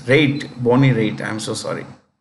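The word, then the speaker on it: Raitt: is Bo anyway this is Bonnie b-o-n-n-i-e Bonnie riot Bonnie right singer writer Bonnie riot no no it's rate Bonnie rate I'm so sorry hey you know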